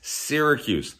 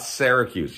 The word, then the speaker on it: Syracuse: It's Syracuse, not Syracuse.